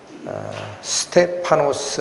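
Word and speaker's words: Στέφανος: 주인공 이름이 등장을 합니다 이 스데반이 라고 번역된 이 단어는 헬라어로 는 에스테 파 노스 라고 읽히는 단어입니다 스테파노 뜻은 무엇이냐 왕관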